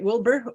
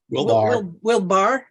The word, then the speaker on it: Wilbur: I'm actually fairly fangirling because we've gotten David Fickett Wilbur, who writes Wilbar. Wilbar. It's been mispronounced my entire life.